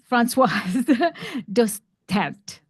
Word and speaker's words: Dostert: Dostert. Do you pronounce the T? Dostert.